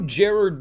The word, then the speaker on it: Gerard: review of the new Gerard Butler film plane and yes I do say it Jared Butler because Gerard Butler used to try to get people to say his name Jared Butler but found out that